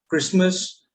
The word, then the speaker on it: Christmas: Okay, so picket, pocket, so it's there, and some other random words like asthma, Christmas, soften, mortgage.